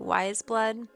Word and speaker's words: Weyes Blood: And it's Titanic Rising by Wa's Blood, I believe is how you pronounce it. Wise Blood.